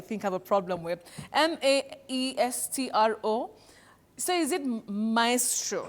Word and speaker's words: maestro: But when we have a very great performer especially of music and all that you'd call that person a maestro maestro not maestro that we hear locally but you know the